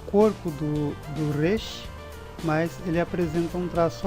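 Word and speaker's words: ריש: Não é aquele som de R na ponta da língua, Resh, e nem aquele som de R fraco, Resh. É Resh, ele é arrastado.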